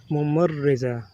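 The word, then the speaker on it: ممرضة: In Arabic we pronounce it Mumarriza.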